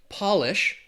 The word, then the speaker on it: Polish: Now, once we capitalize that word, the pronunciation changes from polish to Polish.